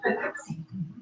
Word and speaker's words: Poughkeepsie: And it's actually pronounced Poughkeepsie, is the proper way to pronounce it.